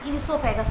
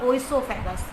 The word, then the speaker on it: oesophagus: Listen the pronunciation carefully, the spelling starts from O but actually O is silent, it is known as esophagus not oesophagus, okay।